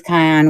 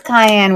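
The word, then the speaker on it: Kanye: me start that purse it is Kion West K ke how do you pronounce it Keon what oh no no no no no no where did I put the card hold on where did I put it it is Cayenne West I guess how you that's how you pronounce his name okay so here is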